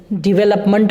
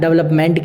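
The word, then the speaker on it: develop: इसी तरह हम डिवेलप जो वर्ड होता है उसको हम डेवलप बोल देते हैं, यानी कि वहीं हम मिस्टेक कर रहे हैं। तो हम नए एक्सेंट, जबकि राइट क्या है? डिवेलप। देखिए यहाँ पे इसको ऊंचा उठाना है, यहाँ पे सिंबल लगाओ, डिवेलप।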